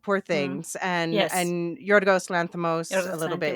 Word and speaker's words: Yorgos: Now, most Americans would look at his real name and say Georgios, but I happen to know Oh. I've had friends with that No, name yeah. before. It's Yorgos.